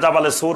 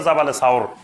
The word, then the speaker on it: জাবালে সাওর: সাওর পাহাড়ে সাওর পাহাড়ের এখন যেটা জাবালে সুর বলে জাবালে নূর আর জাবালে সুর এই জাবালে সুর বা এটা শুদ্ধ উচ্চারণ হলো জাবালে সাওর এই সাওর পাহাড়ের গুহায়